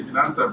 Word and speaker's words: Finanta: Finanta. What is the root? Is that Spanish? It's a made-up word. It's financing technical assistance. But I say I'm Latino, so I say Finanta, but Finanta helps me.